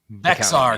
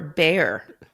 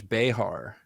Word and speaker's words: Bexar: Antonio Texas and then how do you guys pronounce these words here Bear County right Bexar I was I already remember what I was told before Bear yeah it's Bear County I got it it's